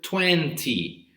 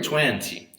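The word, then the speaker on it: twenty: Because we can pronounce 20 or 20. 20 or 20 without the letter T. In this case, 20 and 20 are correct. The two are correct, okay? Is just related to the accent that the person speaks, that speaks English, right?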